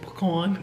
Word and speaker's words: pecan: And sure enough, that bitch said pecan.